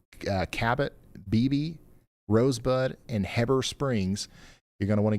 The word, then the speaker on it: Heber Springs: It's not Heber, it's Heber Springs.